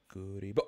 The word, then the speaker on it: Kuribo: Kuribo.